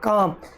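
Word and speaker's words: calm: काम, काम है, काल्म नहीं बोलना है, कुछ साइलेंट वर्ड होते हैं।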